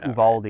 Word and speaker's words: Uvalde: Well, I mean, we made it American by pronouncing it like Texans, which is Uvaldi instead of Uvalde.